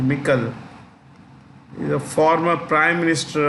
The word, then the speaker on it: Michel: of the European Council, Charles Michel, or some people call Michael. It's actually Michel.